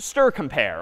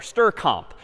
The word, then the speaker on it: strcmp: Yeah, strcmp, or as someone would pronounce it, just str compare or str comp.